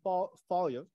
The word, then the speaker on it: Foye: It's Foye, so the E is silent, and it's yeah.